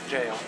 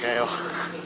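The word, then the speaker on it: gaol: How's it pronounced? Jail. It's a jail. Oh, is it jail? I call it Gale.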